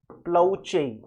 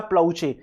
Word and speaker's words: ploce: में आपको वो दे, मैं लिख देता हूं PLOCE, ठीक है ना, प्रोनाउंसिएशन होता है प्लाउचे, PLOCE प्रोनाउंसिएशन होता है प्लाउचे।